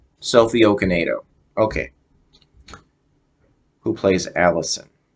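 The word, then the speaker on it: Okonedo: I don't know if I'm going to be pronouncing this right selfie okanado that looks right that well that sounds right from what it looks like o-k-o-n-e-d-o okay NATO okinado Sophie okanedo okay who plays Allison it's funny it says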